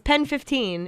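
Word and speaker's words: PEN15: Yeah, it's Pen 15. It's like how it's spelled, and it's Like penis.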